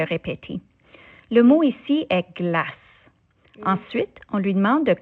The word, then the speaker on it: glace: Comme le E ne se prononce pas dans le mot glace, on ne dit pas glace.